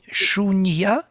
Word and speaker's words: Shunyata: Yes, there is the concept of sunyata, I think you know, isn't it? Shunyata. You say it like sunjata. Shunyata.